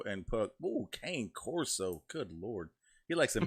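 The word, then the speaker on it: Cane Corso: j blaze put german shepherd rottweiler bull massive king corso and puck oh kane corso good lord he likes some big-ass dogs i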